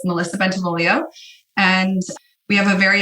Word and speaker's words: Bentivoglio: Okay, so you pronounced my name correctly. So it's Melissa Bentivoglio.